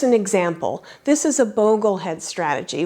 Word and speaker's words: Boglehead: This is a Boglehead strategy, which apparently I've been mispronouncing for years. I always thought it was pronounced Bogglehead.